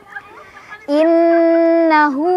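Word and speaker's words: إِنَّ: Innahu ala raj'ihi laqadir. Inna ada gunnah musyaddadah karena ada nun yang bertasydid. Cara bacanya didengungkan ya, ditahan sampai kerasa ke hidung.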